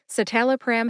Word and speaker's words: citalopram: started with satal pram satal pram has four syllables s tell a pram s like sit tell like Talent uh which is a